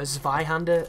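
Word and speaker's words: Zweihänder: So this is a dude with a Zweihander, or a Zweihander as it's probably pronounced, because the W is a V in German.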